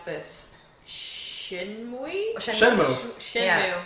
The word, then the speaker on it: Shenmue: We also got, and I can't even pronounce this, Shenmue? Shenmue. Shenmue. Yeah. That's Shenmue.